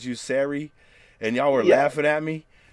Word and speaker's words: Sarey: they see my name they think it's pronounced sorry and then when I connect uh when I correct them and I'm like it's Siri they'll be like oh